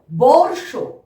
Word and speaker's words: বর্ষ: ব মূর্ধন্য শয়ে রেফ, তার আগে আমরা র উচ্চারণ করব। তাহলে কিভাবে বলবো? বর্ষ, বর্ষ।